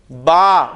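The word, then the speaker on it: ب: तो उन अल्फाज़ में जो हुरूफ इस्तेमाल होंगे उन हुरूफ को हमने इसी तरह प्रोनाउंस करना है। अब हम अरबी लफज़ में जब बे आएगा तो हम उसे बे नहीं बोलेंगे बल्कि क्या बोलेंगे?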